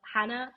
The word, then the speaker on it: Jana: place to find me my name is Hannah it is spelled with a J that's not a typo it doesn't exist in